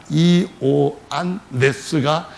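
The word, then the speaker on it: Ἰωάννης: 그리스어로 발음할 때는 이오안네스입니다. 이오안네스가 헬라어, 곧 그리스어로 부르는 이름인데 그거를 우리말로 요한이라고 발음을 하는 겁니다.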